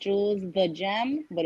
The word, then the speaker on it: Gem: Yeah, GEM. GEM. Like a gemstone.